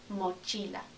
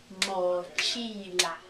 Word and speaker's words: mochila: Mochila. Three syllables. Mochila. Mochila. Okay? Start thinking about how you would spell it. Mochila. First syllable is mo. Second syllable, chi. Remember the I.